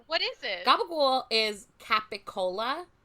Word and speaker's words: capicola: Italian dialects where it's a pretty bastardized like Jersey like specific Italian pronunciation of stuff that is not at all spelled the way it's spelled, but it's capicola, like the deli meat capicola Okay, is yeah.